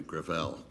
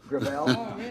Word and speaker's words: Gravel: it within my family gravel gravel it's a French name thank you I want